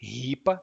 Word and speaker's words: ripa: ripa in Latin, but in Portuguese it's actually ripa, pronounced like that.